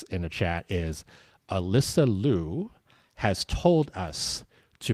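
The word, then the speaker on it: Liu: be pronounced Leu but she has asked the media to pronounce it Lou. Yeah, she pronounces it Leo, but she wants us to say but she wants us to say Lou.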